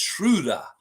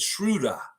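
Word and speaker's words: Schröder: It's Schroder. If you really want to say it right, if you want to put that German inflection in it, Schroder.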